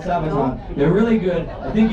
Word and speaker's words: Sabaton: But I see a couple of people wearing a Sabaton shirt. I shouldn't really pronounce it like that always. People go, wait, it's Sabaton? Hey, no. Who does Sabaton history? It's Swedish. Really, it's Sabaton.